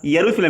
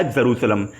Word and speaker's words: यरूशलेम: देखिए आपको कहीं कहीं जेरूशलेम मिलेगा, यरूशलेम मिलेगा और एरूशलेम ही मिलेगा, तो आपको कंफ्यूज नहीं होना है, सारा नाम एक है, सिर्फ प्रोनाउंसिएशन में डिफरेंट है, यरूशलेम या जेरूशलेम।